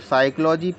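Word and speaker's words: psychology: से लिख रहे हैं बोल रहे हैं इसको साइकोलॉजी पी तो हमने बोला ही नहीं है तो क्योंकि पी साइलेंट है एम साइलेंट पढ़ लेते हैं एम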